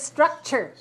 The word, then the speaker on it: structure: This word is structure. Structure. So we have in the dictionary, we see S-T-R-U-C dot. T-U-R-E. A lot of words have T-U-R-E, like picture, right? And nature. And we pronounce chur.